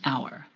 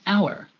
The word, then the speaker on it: hour: We say an hour. Why? Because the H at the beginning of the word hour is silent. So the first part that is pronounced has a vowel sound, an hour.